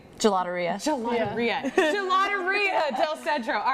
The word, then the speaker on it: Gelataria: Gelataria.